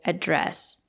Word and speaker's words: address: 88 Falcon road but if it's a verb it has only one pronunciation you have to say address and it has a